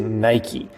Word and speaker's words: Nike: It rhymes with pikey. It is Nike.